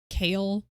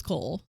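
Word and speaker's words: Chaol: I know his name is supposed to be pronounced Kale.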